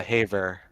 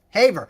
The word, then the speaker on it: Haver: Yeah, a lot of people get it wrong, but it's Haver. Haver.